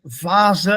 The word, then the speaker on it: Vase: Wenn das ein Fremdwort ist, wird das mit V, also mit wie, mit V ausgesprochen. Sonst ist es F. Wie ein Vase. Das ist Vase and not Phase.